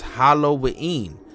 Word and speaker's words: Halloween: Church by professing Christian Church it is actually pronounced Hollow wein and means hollow or holy evening as dobler